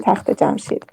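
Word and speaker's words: تخت جمشید: And we call it in Farsi Takht Jamshid.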